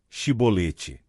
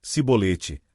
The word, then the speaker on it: chibolete: Se respondesse que não, diziam então: "Diga chibolete." Se ele dissesse cibolete, sem conseguir pronunciar corretamente a palavra, prendiam-no e matavam-no no lugar de passagem do Jordão.